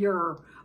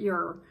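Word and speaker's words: Yer: Anyway, when I was trying to pronounce it, she says, just call it Ur, Y-E-R, call the planet Ur. And the people are called Urs, Y-E-R-S.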